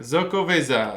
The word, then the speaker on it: Xocoveza: I think that you pronounce the X's like that, right? I am so fucking impressed right now. Damn, dude. I just said the F word. Xocoveza.